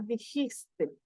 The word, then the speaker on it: dijiste: pero está jota aquí se pronuncia como con la garganta entonces queda dijiste sí dijiste bien y para él